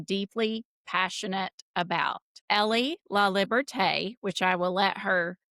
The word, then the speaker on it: Liberté: Libert is French and it is basically it's the same as freedom.